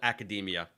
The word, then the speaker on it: academia: And of course he he misspelled academia. Uh that that skit sounds hilarious. Resist. Yeah. Send us that. And he keeps mispronouncing it as like it rhymes with macadamia.